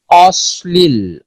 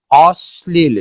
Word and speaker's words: অশ্লীল: ল ফলার প্রভাবে তালব্য স তার তালব্য উচ্চারণ হারিয়ে দন্তমূলীয় স এর মতো উচ্চারিত হয়, দন্ত স্বর মতো উচ্চারিত হয়, তালব্য স্বর মতো আর উচ্চারিত হয় না, বা অনেকটা বাধাহীন, তালব্য স্বর উচ্চারণটা অনেকটা বাধাহীন থাকে কিন্তু তালব্য স্বর মতো উচ্চারণ হয় না, উচ্চারণ হয় হলো দন্ত স্বর মতো। যেমন দেখো অশ্লীল, অশ্লীল, শ্লীল নয় অশ্লীল।